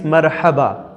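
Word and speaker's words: مرحبا: The translation of hello in Arabic is marhaba, not marhaba.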